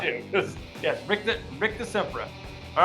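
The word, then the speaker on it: Rictusempra: Oh, I think that was a mispronunciation on the Rictus Sempra there, Raphael. Alrighty, so that's a backfire because you mispronounced it. I think that I think you said Rictum Sempra again.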